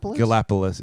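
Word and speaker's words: Galápagos: Galapagos is definitely how you say it.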